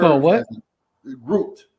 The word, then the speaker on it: gruit: variety of herbs to it was called group back then. You know, and but they was using a variety of Called herbs what? as grouped, like I am grouped, Yeah, I'm like about